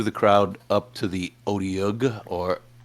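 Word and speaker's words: Otyugh: I pushed my way through the crowd up to the Otiug, or how did you pronounce it, Justin? OTU.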